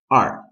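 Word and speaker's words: 二: talent e number two is r which is the pirate sound R the third number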